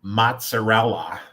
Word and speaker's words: mozzarella: And he had the one, and it's not mozzarella.